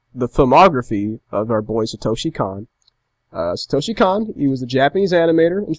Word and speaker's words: Satoshi Kon: I say it. Satoshi Khan. That's how I've always said it.